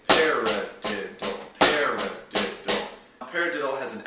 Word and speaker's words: paradiddle: Also, paradiddle has four syllables, paradiddle has four notes, so you can say paradiddle, paradiddle.